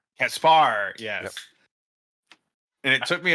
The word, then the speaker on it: Caspar: And h they pronounce it C uh um Caspar. Caspar.